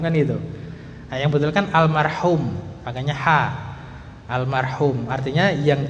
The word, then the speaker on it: almarhum: mengucapkan almarhum Nah kalau kalau orang kita kan almarhum pakya ha juga bacanya almarhum kan gituah Yang betul kan almarhum makakya ha almarhum artinya yang dirahmati cuman ketika